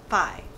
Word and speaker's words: phi: I googled it and some places call it fee and some Phi let's just call it Phi but that's how most people pronounce it I think okay